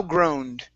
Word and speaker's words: groaned: Here we have an ed ending as well. So just like offered, we're going to go right to the D sound. So thou groaned.